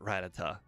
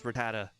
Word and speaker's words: Rattata: I call it Ratata. I call it Ratat, but close enough.